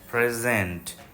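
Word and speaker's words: present: হবে না প্রি প্রিজেন্ট প্রিজেন্ট যেহেতু ভার্ব তাই দ্বিতীয় সিলেবলের উপর জোর পড়বে তাহলে উপহার প্রেজেন্ট উপহার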